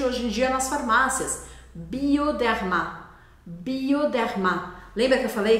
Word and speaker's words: Bioderma: ar saindo pela garganta bioderma bioderma ele é bem Sutil não é bioderma tá bom E esse o a gente vai marcar ele bem porque isso vai te